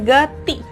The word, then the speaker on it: गति: तो देखिए दोनों में ये छोटी की मात्रा है तो इसका जो उच्चारण है छोटी सी आता है, गति।